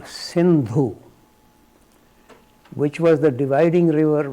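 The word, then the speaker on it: Sindhu: pronounce this as a Hindu somehow s is pronounced as H in Persian for whatever reason that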